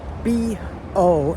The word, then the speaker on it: bo: If it were me making a romanization system, I think I would spell it B-U-O, but that's what we got. B-O is bo.